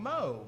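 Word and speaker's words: Meaux: moses and for short they call him moe but they spell it like m-e-a-u-x and i was always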